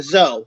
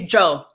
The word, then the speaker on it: Joe: It's Joe. Joe. Okay, with J. Okay, like a J. It's okay. Gotcha. Okay, it's more like it's a hard kind of like a bite.